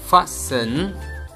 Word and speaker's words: fasten: spellings l i s t e n listen fasten f a s t e n fasten fossil